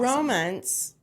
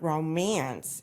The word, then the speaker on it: Romence: Romance, and I want everyone to know it is not romance. It is romance.